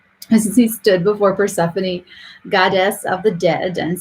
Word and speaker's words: Persephone: to say her name as he stood before persephone goddess of the dead and sang until she